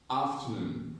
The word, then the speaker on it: afternoon: Afternoon. Afternoon. Afternoon. Afternoon. You see? Afternoon. Afternoon. That is the correct stress pattern. Okay? So when you see this word, the stress is on noon.